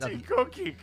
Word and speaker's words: Tchotchke: It's Tchotchke.